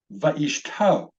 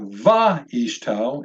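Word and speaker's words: וְאִשְׁתּוֹ: Va'ishto. Va'ishto. So it's not va'ishto, it's not va'ishto, it's va'ishto, and his wife.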